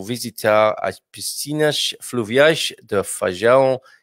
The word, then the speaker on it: Feijão: Hoje vou visitar as piscinas fluviais de Feijão e Pessegueiro. He's going to the river beach, everybody, at Feijão. You've got to be careful, because I'll make it sound like beans. It's Feijão, not rather than Feijão.